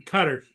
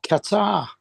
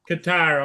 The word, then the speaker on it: Qatar: Iran just launched six missiles into our military base in Cutters.